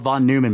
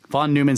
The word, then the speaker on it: Neumann: You know, von Neumann self-replicating machines. Yes, Neumann. Neu. Von Neumann. I mean, NEU is actually pronounced Neu if it's German.